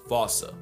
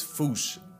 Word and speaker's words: fossa: But if you follow the Attenborough rule, Sir David would have had you saying Fossa. What if I told you both are technically wrong? Cause their name comes from the original Malagasy word, and apparently the correct way to say it is Fouche, Fouche, Fouche, like Fouche with a performance anxiety at the end.